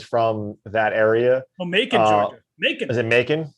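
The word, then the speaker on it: Macon: is this is pronounced mason or macan it's m-a-c-o-n georgia so apologies if anyone's from that area is it making making it like bacon yeah actually that makes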